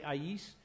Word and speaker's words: Ais: one pronunciation I so some people say eyes ice I there's a whole whole bunch of stuff I say AIS because I know what the original writing was the Indian River